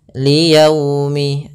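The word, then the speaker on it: لِيَوْمِ: Dalam pelafalannya harus lembut. Liyaumi, agar menyempurnakan makhraj huruf waw, kita agak monyongkan bibir kita. Liyaumi, ya dilembutkan yaumi. Kemudian pada lafal yaumil di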